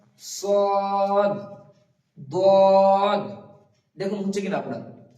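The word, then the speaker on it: ص: তারপর আছে সদ, সদটা উচ্চারণ করতে হবে সদ, দদ, এই দুটো অক্ষর এখানে এঁকে দিয়েছি দেখুন।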